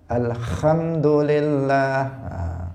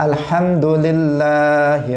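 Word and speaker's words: الحمد لله: Hak itu harusnya dia bersih, tetapi sering orang membacanya alhamdulillah. Alhamdulillah. Kalau dia membacanya alhamdulillah jadi kha.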